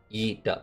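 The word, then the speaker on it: Yda: I know it's probably too late to correct you, but Ida is pronounced Ida.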